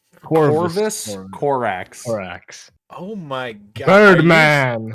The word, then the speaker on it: Corvus Corax: Korvax Korax, because You forget he exists so hard you don't say his name right. Yeah, what? How do you say his name? Corvus Corax.